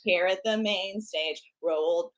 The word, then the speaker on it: Roald: coming up next here at the main stage rolled rolled yeah I just want to make sure we're